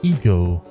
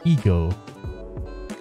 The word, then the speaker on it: Eggo: traveling tips for you the region of eggo pronounced as ego oh there you go so i was right it's pronounced as ego is a small but